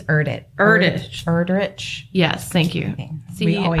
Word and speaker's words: Erdrich: And I used the Greenwood Library website and I found The Night Watchman by Louise Eldridge. I think it's Erdrich.